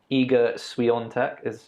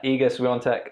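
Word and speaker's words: Iga Świątek: So obviously we had Iga Swiatek, I think that's how you pronounce it, even though when you read it, it literally doesn't look anything like that. But who am I to say how you pronounce a Polish name?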